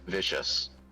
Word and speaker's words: Vicius: Her name is spelled Vicius and can be pronounced vicious.